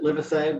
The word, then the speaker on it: Livesay: Livesay is here. Welcome. Good morning, Senator Marymount. And I pronounce it Livesay, but there are different people in the family who pronounce it different ways, believe it or not.